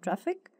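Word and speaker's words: Traefik: another then we have traffic traffic which is pronounced similar to traffic is a Cutting Edge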